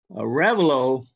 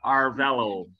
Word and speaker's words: Arevalo: Arevalo. Arevalo? Am I saying it wrong? My dad, when he came here, he changed our name. He pronounces it as Yes, and I do, and my grandchildren, Arevalo.